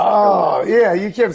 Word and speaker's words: Triller: I heard Thriller. My mind immediately went Mike Jackson. Nope. All right, that's. Nope, I knew you were going to say that. It's Triller. It's pronounced Triller. I'm sorry. It's pronounced Triller.